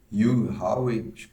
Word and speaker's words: Hugh Howey: 10 Episódios essa série baseada no livro de you Hawaii assim que se pronuncia o nome do autor e é uma